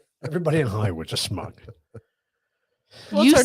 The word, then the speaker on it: schmuck: Everybody in Hollywood's a schmuck. What's You our say next it topic? wrong. yeah, you say it wrong. Schmuck. Schmuck. Gotcha. Thank you. Schmuck. It's not a smuck. It's a schmuck.